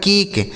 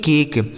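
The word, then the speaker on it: cake: तो अगर किसी शब्द के लास्ट में इ लिखा गया हो तो उस इ का उच्चारण हमें नहीं करना होता है।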